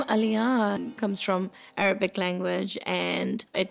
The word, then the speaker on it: Aliyaan: It's like Ali and Yan.